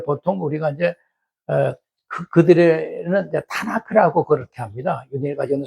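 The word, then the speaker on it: תנ״ך: 그러니까 이게 크지요. 크 발음이 나죠.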